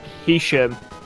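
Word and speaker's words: Heysham: and it is spelt h e y s h a m being from around here i know that village is called hisham the y and the s very little interaction it's where it goes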